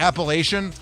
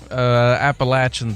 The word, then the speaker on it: Appalachian: Didn't you go to Appalachian? Appalachian, thank you. I always say it wrong.